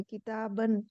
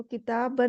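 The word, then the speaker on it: كتابًا: अलिफ भी जुड़ा है, किताबन। तो किताबन में अलिफ जुड़ा है, लेकिन बा करके नहीं पढ़ेंगे, किताबान इस तरह नहीं बोलेंगे। इसको सिंपल बोलेंगे किताबन, मतलब उसको प्रोनाउंस नहीं करेंगे, विच इज नॉट प्रोनाउंस्ड, ये लिखा है।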